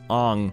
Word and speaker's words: Aang: Aang is pronounced Ong.